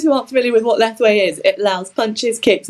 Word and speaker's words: Lethwei: Lethwei, that's correct.